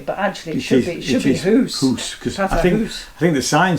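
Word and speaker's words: Hoose: Though it's pronounced, it has house here, but actually it should be Hoos.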